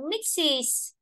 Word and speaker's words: mixes: Đấy đọc thêm rồi ta đọc là mixes, tức là có đuôi e, ta đọc là is. Nhưng ở đây đuôi e ta đọc này, leaves, leaves, không hề có nghe is gì cả.